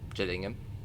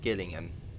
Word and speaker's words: Gillingham: and soon after that Gillingham not Gillingham I've heard I've heard it pronounced that before and I was like Gillingham I mean fair enough Gillingham if you don't know the area Gillingham Gillingham anyone guess